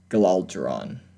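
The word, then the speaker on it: Galidraan: Galadron. I don't know. It's like Alderaan, but it's spelled G-A-L-I-D-R-A-A-N.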